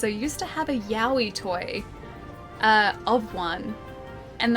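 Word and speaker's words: Yowie: Okay, so it's spelled like this. It's spelled uh Yahi like that. Y O W I E. Yahi.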